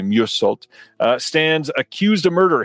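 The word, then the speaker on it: Meursault: And uh it says, "In French Algeria, office clerk Merult is that's definitely not how you say that. It's probably Musult uh stands accused of murder.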